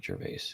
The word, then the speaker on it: Gervais: Ricky Gervais is my favorite. He's hilarious. Yeah, I said Yeah, I pronounced his last name wrong. Yeah, Ricky Gervais.